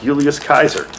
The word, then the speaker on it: Julius Caesar: so as an example recently Scholars apparently have reason to believe that Julius Caesar is pronounced Julius Kaiser which explains you know